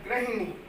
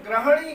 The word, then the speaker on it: गृहिणी: ग्रहणी और गृहिणी दो अलग अलग शब्द हैं। गृहिणी में ये गृह से संबंधित है बाद वाला, और ये सही है। इसको अगर हम ग्रहणी कहते हैं तो गलत